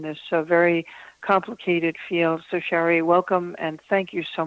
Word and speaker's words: Shari: Shari is spelled S-H-R-I, not Sherry. I say that because I have a cousin named Sherry. So it's Shari Botwin, has been counseling survivors